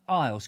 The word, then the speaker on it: Isles: But Isles, Christopher Isles, like in the British Isles, but without the S.